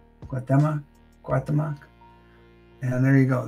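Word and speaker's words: Cuauhtémoc: I wish I could pronounce his name well. It's Guatemoc. Guatemoc.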